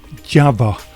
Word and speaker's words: Jawa: you'll appreciate the content now java motorcycles or java to use the correct pronunciation was actually founded in